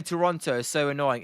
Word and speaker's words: Toronto: You're not um too much older than me then as um I know you're to pronounce it like Toronto um with not the second T technically, but um I'm not